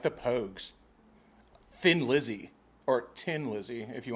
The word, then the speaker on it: Thin Lizzy: It's just like in Ireland, it's Tin Lizzy, Yeah. not Thin Lizzy.